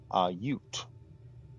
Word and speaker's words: Ute: Also, Ute is one syllable. Ute.